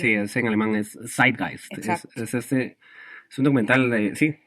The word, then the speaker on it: Zeitgeist: teoría de conspiración, que se llama, José sabe pronunciar el nombre mejor. Dilo. Sí, es en alemán es Zeitgeist.